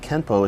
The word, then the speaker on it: Kenpo: it becomes Kenpo however in the rules of kanji when a character ends with n it is pronounced with the n Sound except when followed by another character that starts with p in that instance the N will make an M sound this would mean that Kempo is technically spelled with an N but should be pronounced with an M through romanization it is